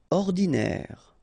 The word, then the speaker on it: ordinaire: Normal, ordinaire, don't insist on the final E, ordinaire.